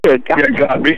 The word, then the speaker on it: Godby: Trinity Catholic at, how do you say that, Godby? Godby. Godby. Tallahassee.